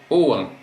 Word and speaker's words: Ogham: Oan, a gente fala Oan, mas ele se escreve O-G-H-A-M.